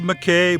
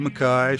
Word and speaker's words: McKay: dam there at Mckay, and it's spelled Mckay, but around here it's enunciated Mckay. So if you happen to look it up and you think I'm mispronouncing it, I probably am, but around here it's called Mckay. It's not called Mckay.